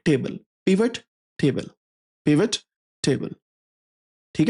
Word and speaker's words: pivot: पिवेट table इसे बोला जाता है। पिवॉट टेबल नहीं है। पिवेट पिवट पिवेट होता है। पिवेटल पॉइंट होता है ना